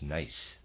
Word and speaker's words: gneiss: I apologize, the correct pronunciation is Nice.